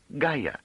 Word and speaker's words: Gaia: There is, however, a planet named Gaia. What has that got to do with it? Ga. It's spelled G A I A. It means Earth.